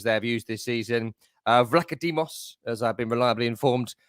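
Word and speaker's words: Vicario: all the goalkeepers they have used this season vados as I've been reliably informed you pronounce his name and Matt turmer Matt Turner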